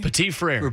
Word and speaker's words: Petit-Frere: Petit-Frere.